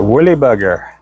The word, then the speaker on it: Woolly Bugger: Some people will say woolly booger, as in burger, booger.